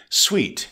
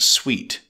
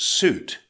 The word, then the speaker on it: suite: Sweet, it's a noun with one syllable. It's pronounced sweet. Note, sweet, not suit.